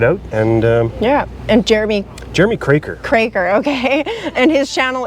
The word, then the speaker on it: Kroeker: It's spelled Kroeker. That's why it confuses some people. Kroeker.